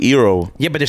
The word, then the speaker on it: gyro: It's not pronounced gyro. It's pronounced gyro here. New York is yeah, gyro. we say gyro because I it's think a gyro. But as a Greek person, we're like, no, it's euro, like euro.